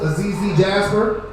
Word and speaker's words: Azizi Jasper: This is my co-host, Azizi Jasper. It sounds just like it's spelled.